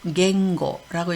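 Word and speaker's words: 言語: 음독은 갱 또는 공이라고 읽습니다. 네, 언어는 갱고라고 읽고요.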